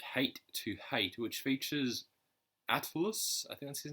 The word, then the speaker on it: Atlus: It's spelled ATLUS. So I think it's like Atlas, but with the use of Atlas.